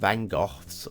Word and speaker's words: van Gogh: golf okay listen I I'm British English so I'm gonna go with the British pronunciation we're at van Gogh van Gogh some in color see of course if you're American and you want me to go to Van Gogh then I'll have a